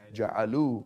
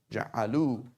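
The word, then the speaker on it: جعلوا: A wow sign, and then an alif that is not pronounced. The alif is not pronounced.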